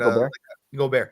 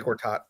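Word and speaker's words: Gobert: when he had uh I'm going to say his name wrong but goar yeah thank you I was gonna say Gortat I'm an idiot but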